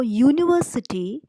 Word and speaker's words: university: is a university because even though it begins with you the pronunciation that comes out is like why University so it is a